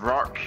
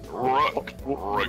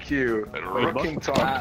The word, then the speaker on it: Rookington: because he said that nobody can pronounce my name right. I keep being called Rock. I'm just like, stop. Rook. Thank you. Rookington. Rookington. People keep going on like, hey, Rockington. I'm like, no. Rockington, no.